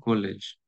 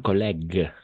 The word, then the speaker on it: collègue: Pour renforcer les pronoms subjets, je vous présente nos nouveaux collèges. Luisette, Mario et Elset Emily. Bravo. Bravo, exactement. Très bien. Attention, collègue. Collègue, pas collège, collègue.